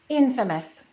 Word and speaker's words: infamous: Number four, infamous. Infamous. Be careful about that word. It's not infamous. We have the word famous, but this one we stress the first syllable.